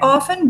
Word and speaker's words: often: Peter often goes to the cinema. Peter often goes to the cinema. Often. Often. You don't pronounce the T, it's a silent letter.